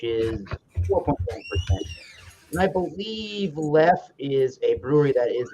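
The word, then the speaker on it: Leffe: I think it's pronounced lef, but you could say lefe. I think it's lef.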